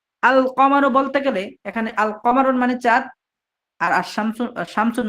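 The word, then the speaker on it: القمر: যেমন আল কমারু বলতে, যেমন আল কমারুর আলিফ এই কমটা কফ হওয়ার লামের পরে কফ হওয়ার কারণে আলিফ লামের লামটা উচ্চারিত হয়েছে, ঠিক আশ-শামসুর মধ্যে আশ-শামসু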